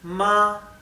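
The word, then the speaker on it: 妈: no tiene alto y bajos no cambia es ma esto significa madre o mamá bien y luego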